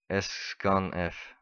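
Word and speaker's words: sscanf: the extension and scan uh s how to pronounce it s string scan format s scan F yes it's like that but so if you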